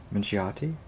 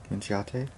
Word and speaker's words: Minchiate: It's a complicated word to pronounce, but I believe it's Minchiate. Minchiate.